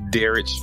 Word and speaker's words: Derrich: So I'm Derrich. I got a kind of a weird pronunciation for my name. My mom was getting creative. So instead of Derrich, she emphasized the rich.